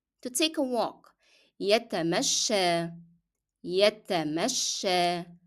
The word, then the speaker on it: يتمشى: To take a walk يتمشى يتمشى. And the last letter of this word is ya, but it is pronounced as alif because it is preceded by fatha.